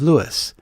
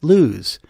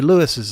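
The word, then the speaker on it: Lewes: thought it was pronounced luz but no it's pronounced as two syllables like how comedian and actor jerry lewis's last name is pronounced the name derives from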